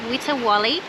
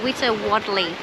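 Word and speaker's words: Witawali: of the land and it's actually pronounced wita wally or witter wadley by the traditional owners sounds fancy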